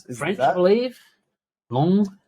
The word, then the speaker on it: Lens: Long. I think it's Pronounced Long.